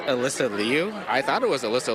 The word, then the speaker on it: Liu: So my family calls me Elisa, but like all my friends call me Alyssa, so it really doesn't matter. And then my last name, the Chinese pronunciation is Liu.